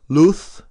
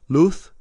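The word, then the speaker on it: luz: crisis dadosis la paz in spain those last two words would be pronounced luth and path because the z and the sea in spain are pronounced like a th luth and path light and peace and with that we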